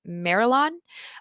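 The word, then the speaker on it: Marillion: so please correct me I believe it's pronounced marilon uh funded their reunion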